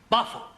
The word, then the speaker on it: buffalo: Yeah, words that end in O, like buffalo or radio or vertigo, you pronounce the O, but where there is no O, you don't add one, understand?